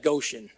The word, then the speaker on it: Goshen: a meadow in near goshan and go Sean well in in Georgia we pronounce that Goshen but it's this area